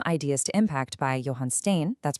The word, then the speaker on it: Stain: This is exactly where the book from ideas to impact by Johan Stain, that's pronounced S T A I N, comes in and offers this groundbreaking shift in perspective.